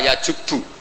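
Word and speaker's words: يَجُبُّ: Itu bacanya bukan yajibu tapi apa? Yajubu ayaktau.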